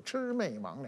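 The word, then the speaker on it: 魑魅魍魉: ，这字就准确读音就是魑魅魍魉，也吃饭的吃，妹妹的妹，上网的网，两个的两，那你这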